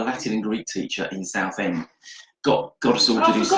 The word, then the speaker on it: Southend: and Greek teacher in Southend got us all to do. I forgot you're an Essex boy. I'm an Essex boy from Southend. Southend, Sarfend, to pronounce for those of you who don't know.